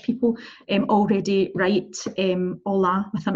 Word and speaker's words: hola: really basic really simple hola so red Betty mostly repeater hola hola so you will notice that I am ho pronouncing hitch right we do not say holla you see hola you me know that